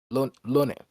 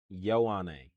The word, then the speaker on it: Ioane: Lone. Ione. Lone? Lone? Ione. I There you go. learned how to pronounce his last name. Oliva Vega. Ioane.